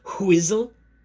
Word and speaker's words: Whizzle: I pronounce the H. Whizzle. It starts with a W.